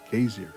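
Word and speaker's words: Geysir: been borrowed into english in icelandic it's pronounced casey great geyser is a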